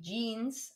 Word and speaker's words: Jeans: Or trousers, die kurze Hose, shorts, die Bluse, a blouse, die Jacke, the jacket, die Jeans, and it's not jeans, that's actually you pronounce it the English way, die Jeans, the jeans,